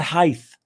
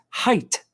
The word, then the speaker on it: height: he had a height it's not heighth it's not hyth it's not blyth california you know what i mean it's height you see how you spell it say it the right way it is pronounced height you'll never forget these